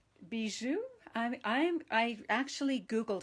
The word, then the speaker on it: bijou: now this designer paper is called butterfly bijou bijou i'm i'm i actually googled how to say it because i wasn't sure how to do it and um and i even googled the meaning so it's not bayou or something like that it's be and it's